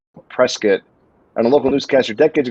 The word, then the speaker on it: Prescott: a few times and originally i was like prescott and they were like no it's prescott i was like oh